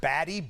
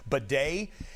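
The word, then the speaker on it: Badie: spelled it looks it looks like it says Baddy. B- A D I E. He pronounces it bedet since over the keep.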